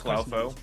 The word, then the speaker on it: Clowfoe: Is it pronounced Clofo or Clowfo? I mean, it's Clowfo because it's a little clown, but also true.